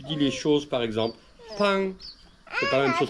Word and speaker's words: 朋: Mais le P, ça se dit avec une inspiration, on dit pang.